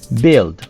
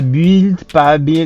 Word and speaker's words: build: Remarque aussi pour la prononciation, le UI a le son de E court. Donc, tu dis build. Pas build, c'est B.